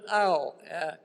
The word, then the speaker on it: Ow: yeah this is ow her last name is a you Chinese is pronounced just like you stepped on something painful and we were each